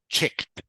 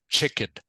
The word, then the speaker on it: checked: this word is pronounced checked check checked okay it's it it's it's not chicken you said chicken which is which is a different word this one is pronounced